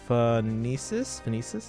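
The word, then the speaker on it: Phoenicis: number first I in is how is it pronounced phonesis um let's turn that into a one just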